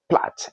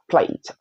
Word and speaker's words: plat: So that's plat, not plate, plat.